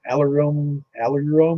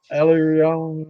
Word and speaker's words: aleurone: you got what's called an heirloom layer. I'm probably butchering the pronunciation of that, but I'm not going to help you out, bro. Yeah, I mean, I've never had somebody, a biologist, explain it to me and pronounce it. Good job, Jeff. Aileron, yeah, that's it.